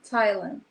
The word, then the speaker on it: Tylan: How do you pronounce Tylan? Thailand.